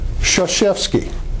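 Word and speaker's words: Krzyzewski: Duke head coach Mike Shashi there are a lot of letters in there you don't use it's about remembering understanding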